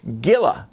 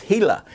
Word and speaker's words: Gila: uh see or English would see G I L A and they would say Gilla Monster. It's not. It's Hila. Hila monster. Uh, a a Spanish name where the G the G's are are pronounced like H's.